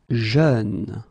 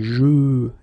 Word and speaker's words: jeune: Jeune. Same thing, you don't say je, you say jeune, okay?